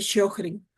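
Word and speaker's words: Sjögren: Siguiente enfermedad autoinmune, síndrome de shoin, suena como si pronunciáramos una sh.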